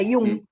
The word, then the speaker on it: Jung: Se escribe Jung y se pronuncia como Ivo lo acaba de decir. Jung, no se pronuncia Yang, se pronuncia Jung, como dice Sí. como dice Ivo, porque es alemán, no es inglés.